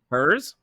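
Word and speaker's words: Herr's: That is not how that is pronounced. It is now. Hers. Hers. Hers. That's not how it's pronounced. Don't listen to Vommer's lies. I was going to say no bomber. I am from the Philadelphia area. That is how it's pronounced. Is it supposed to be hairs? No, it it may have started as a German thing, but if you go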